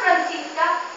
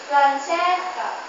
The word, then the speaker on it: Francesca: Not Francisca, Francesca.